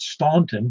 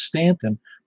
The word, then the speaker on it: Staunton: factory that was in a place called Stanton in Virginia, and it's spelled Staunton, and everybody in the world would call it Staunton, but it's Stanton, and they're the ones who make up the rules.